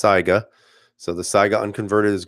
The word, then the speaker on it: Saiga: converted I know a lot of you say Saiga but it's pronounced Saiga so the Saiga unconverted is great but if